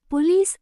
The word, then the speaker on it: police: In words where O doesn't get stress, don't pronounce it strongly. Say it softly like A. For example, say today, not today. Police, not police.